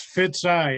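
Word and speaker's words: Fitzi: pronunciation like your name it's pronounced Fitz eye f-i-t-z-i okay all right no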